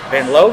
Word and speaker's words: Benlolo: and I'm with broken love lead singer Justin Ben loo that's right I got it R the first